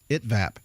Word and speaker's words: ITVAP: how do you say this it is at it vApp okay it that I TV ap we're going